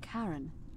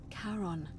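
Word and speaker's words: Charon: Only your pronunciation is a little off. The name you heard wasn't Karen. It was C H A R O N. As in Karon, the fairyman of the dead.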